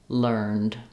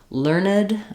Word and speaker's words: learned: There is one exception for this rule about the ED saying the D sound, where there is an old-fashioned word, learned, that we sometimes use as the adjective. For example, the learned professor taught the class means knowledgeable, wise, educated.